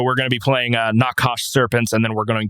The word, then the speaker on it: Nachash: But prior to that, we're going to do a band that I talked to recently called I believe it is pronounced Nakash, NACHASH.